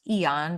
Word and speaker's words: Aeon: It's pronounced Eon, but it's spelled AEON.